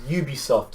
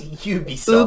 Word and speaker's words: Ubisoft: I would go Ubisoft too, like Ubisoft or Ubisoft. Not even Ubisoft. Ubisoft is wrong.